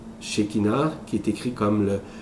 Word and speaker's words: Shekinah: originel de la source, qui s'appelle le langage Shekinah. Shekinah, qui est écrit comme le S-H-E-K-I-N-A. C'est comme ça s'écrit.